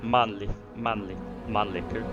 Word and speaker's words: Mannlicher: It does have Mannlicher, that's how we pronounce it, rifles, and a Danish Madsen machine gun.